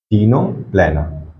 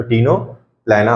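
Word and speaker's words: Ctenoplana: याद रखना है एग्जांपल टीनो प्लेना टी साइलेंट रहेगा इसके प्रोनंसिएशन में हमेशा ओके इसको इसलिए टीनो फोरा तो टीनो प्लेना हम लोग पढ़ेंगे क्लियर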